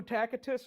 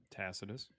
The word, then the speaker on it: Tacitus: So well known and you can't say his name right. What's Oh, how is it really pronounced? Tacitus. That's not true. At least in Latin it is not true.